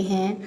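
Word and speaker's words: who: पर देख लेते हैं हु इसके स्पेलिंग है डब्लू एच ओ लेकिन यहां पर डब्लू जो है वह साइलेंट है इसको हु पढ़ते हैं हु यह इसकी सबसे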